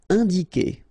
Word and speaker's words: indiquer: Indiquer, all right, keep in mind that when you get this Q and U after, and obviously a vowel, then U is not pronounced at all, okay, so it's K here, you don't pronounce the U.